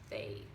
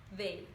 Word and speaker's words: they: De novo, a língua vai lá no meio dos dentes e passa um arzinho no meio delas, então fica they, ok? They, tá?